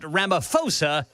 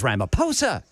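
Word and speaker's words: Ramaphosa: Well, brother Chris, unbeknownst to this said newsman, apparently the H is silent in the last name of the South African president. So, it is not Ramoposa, it is Ramaposa.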